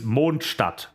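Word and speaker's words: Mondstadt: t at the end the name of the city is German it's it literally translates to Moon City it's moonstadt no one in the game can pronounce it correctly but it is monster Moon City me neither but it's German and I'm good with German foreign this is but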